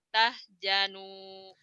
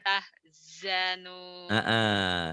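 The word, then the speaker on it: تحزنوا: La tahinu wa la tahjanu. Jimnya orang. Bukan jimnya itu Zai. La Z. tahzanu. Orang Sunda kan nggak mau susah ngomongnya kadang-kadang. Jim, Zai dibacanya Jim, pajaja padahal pajaza, jazauhum.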